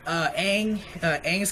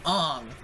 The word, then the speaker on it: Aang: It's just that my complaints are like with Aang's character. They're like, oh, like they pronounced it Ong. That annoyed me because you have a source material of the cartoon where they say Aang.